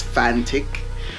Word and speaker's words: Fanttik: I believe the fantic I've been pronouncing it FANUC but it's fantic um has holds its